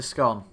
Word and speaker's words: scone: Which way do you pronounce? Scone. Not scone, it's a scone.